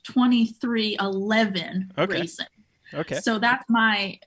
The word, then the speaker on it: 23XI: at me like I have six heads it's pronounced 2311 which I like that name honestly I think